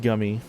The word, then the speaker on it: Gumey: I kept saying Gumey. It's pronounced Gummy.